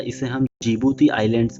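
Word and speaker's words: Djibouti: तो यहाँ पर कौन सा देश है गाइज, तो वो है जिबूती। ओके, यहाँ पर डी साइलेंट होता है, इसे हम जिबूती आइलैंड्स भी बोलते हैं।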